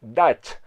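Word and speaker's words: Dutch: arnold schwarzenegger aquí sí aquí se pronuncia dash sé que en un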